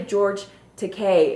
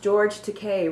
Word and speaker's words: George Takei: It's actually George Takei, and what he put on there was, my name is pronounced George Takei, rhymes with gay, easy to remember, no?